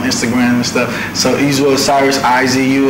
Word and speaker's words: Osirus: So Izu Osirus, Izu, and then Osiris like the God, but it's spelled Osirus.